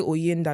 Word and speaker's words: Oyinda: Say Linda. They'll say Linda. I'll say, okay, now remove the L, put OY. Say Oyinda.